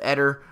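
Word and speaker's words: Éder: I think his name's actually pronounced Eder.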